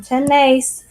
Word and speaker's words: tenemos: tiene tenemos tonight's tienen accent on the e in ten mace and the thing about